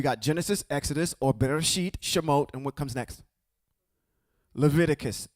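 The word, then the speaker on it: שמות: In Hebrew, it's Shimote. That's where we are right now. Shimote. And that's how you spell it.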